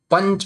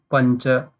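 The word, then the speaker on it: पञ्च: Punch, we will not say punch. No, pancha. A sound should come. It should not be that big like it becomes pancha, but it a sound should come because it is there.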